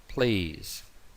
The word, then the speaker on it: please: Please, please, please.